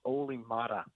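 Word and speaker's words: Olli Määttä: It's pronounced Oli Mata.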